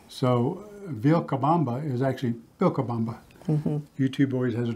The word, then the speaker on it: Vilcabamba: And the subtle differences, for example, your V's are pronounced like a B. So Vilcabamba is actually Vilcabamba.